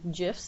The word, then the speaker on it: GIF: You have a lot of GIFs or GIFs, depending on which side of the fence you're on with pronunciation there.